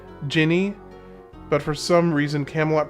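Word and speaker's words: Djinni: So, I wonder if it's because I've been uh It's weird because it's supposed to be pronounced like Jinny, but for some reason Camelot pronounced it denini.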